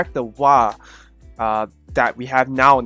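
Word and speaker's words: は: Yeah, it sounds weird, but it's the character is meant to be pronounced ha on its own, but in the sentence it's pronounced wa.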